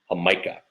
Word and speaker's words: Jamaica: It's spelled Jamaica, but it's pronounced Jamaica.